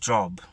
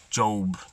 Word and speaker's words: Job: remember the story of job job job however you pronounce his